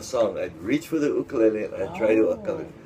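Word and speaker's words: ʻukulele: Ukulele. Yeah. Because in Hawaiian, the letter U is with pronounced u. Well, it has the okina in front of it.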